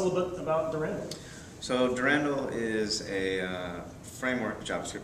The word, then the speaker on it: Durandal: Durand is how you say it. We'll say it wrong. So tell us a little bit about Durand. So Durandal is a uh framework JavaScript framework as you